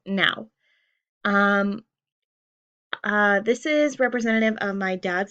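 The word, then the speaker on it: Nau: have a German flag my last name is spelled n a youu and it's pronounced now um uh this is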